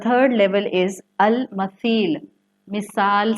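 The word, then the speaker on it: المثيل: The third level is अल मसील. मिसाल से है, जिसको आप अरबी में सा को सॉफ्टली प्रोनाउंस करते हैं. अल मसील, मीम सा या लाम.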